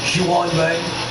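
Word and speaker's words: Ji-hwan Bae: I think that's giwan giwan Bay I think that's how it's pronounced I'm going listen to here see how the announcer says his name yeah I was right he must I believe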